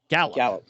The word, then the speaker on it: Galop: Is that Galop? How do you pronounce that? France Galop? Gallop. Oh, here I am trying to be European with my vocabulary. It's just Gallop.